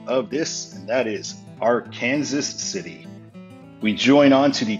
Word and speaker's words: Arkansas City: But now we're finally in an area that I know about, so I know the correct pronunciation of this, and that is Arkansas City.